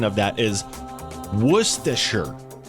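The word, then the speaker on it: Worcestershire: I always call it like worshshire but I know that's not it. So according to this the um the correct pronunciation of that is worsher.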